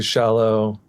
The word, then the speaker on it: Shallou: But yeah, people say shallow and I guess in that way they're like kind of right but not fully right. Shallou is good.